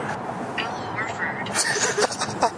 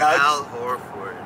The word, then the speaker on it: Al Horford: Alan Orford. How did you pronounce it, Aryan? Pretty close to this. No. Say it, bro. Say it. Al Horford.